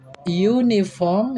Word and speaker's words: uniform: Uniform adalah kata benda yang diawali dengan huruf vokal U, tetapi cara membaca U ini seperti Y ya. Uniform ya, cara membacanya ya, tulisannya uniform dibaca uniform ya.